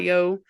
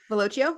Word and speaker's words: Velocio: I don't know how to pronounce this, but the Yep. Velocio. Velocio.